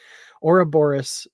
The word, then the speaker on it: Ouroboros: it yeah it's just it's only about the accent where you put the accent because a lot of